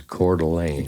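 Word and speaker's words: Coeur d'Alene: or something because I think the local is cordelane.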